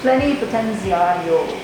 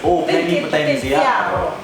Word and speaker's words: Plenipotenziario: It sounds really much better if I go Plenipotenziario. Plenipotenziario. One of my friends calls it plenty of syllables. So it's a little bit difficult to say, but it's Plenipotenziario. But you have to do it in Italian.